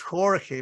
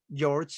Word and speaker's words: Jorge: you say your name uh it's Jorge but I know that yes it's difficult sometimes so I prefer George you know hey all